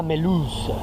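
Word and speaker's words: Mulhouse: ponía acento franc le vill mulh y era meluz como se de mulhaus a melus me acordaré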